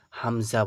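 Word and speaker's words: همزة: এবার এই আলিফের উপরে যখন যাবার পড়বো আমরা তখন কিন্তু এটাকে আর আলিফ আমরা উচ্চারণ করবো না। এটাকে কি বলব? তখন এটাকে বলব হামজা। পুরোটা কি হয়ে যাবে? হামজা হয়ে যাবে। এটাকে কিন্তু আর আলিফ বলা যাবে না।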